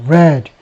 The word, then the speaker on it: read: red. 이거 과거입니다. 단 이제 발음은 read가 아니고 red라고 있죠.